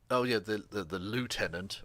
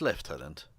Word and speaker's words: lieutenant: The lieutenant, or it's lieutenant. That's how the English would pronounce it.